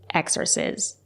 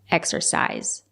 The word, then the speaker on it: exercise: It's not correct to say exercise. It's pronounced exercise.